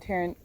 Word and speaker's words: Tauranga: Did I pronounce it correct? Mount Tauranga.